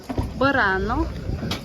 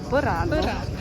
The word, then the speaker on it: Burano: Lastly, but not leastly, borano. She said my pronunciation was correct. She She nodded and said birana. Correct. Okay.